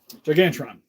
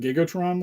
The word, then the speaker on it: Gigantron: Gigantron. That's how you say it. Gigantron? I said Gigatron last time. Pretty sure it's Gigantron.